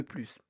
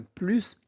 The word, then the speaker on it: plus: Alors on prononce le S parce que plus est utilisé comme signe d'addition.